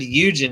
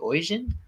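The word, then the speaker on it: Oisín: my own friend's name i said eugen it's origin like oy vey oisin um never actually interacted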